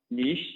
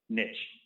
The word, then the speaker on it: niche: and we niche down niche not mitch according to aaron we learned prior to this that our argument last time was incorrect niche is a french word and it's not pronounced niche like us wisconsinites like